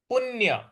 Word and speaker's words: पुण्य: ये हो रहेगा प्राप्य पुण्य पुण्य जो पु के पु के बाद जो प जैसा साइन है उस पर हमको आघात देना है। पुण्य इसको न के उच्चारण में लाते हैं।